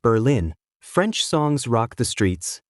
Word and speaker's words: Berlin: In Berlin, pronounced Berlin, French songs rock the streets and towns like Colbrook host Quebec style winter carnivals.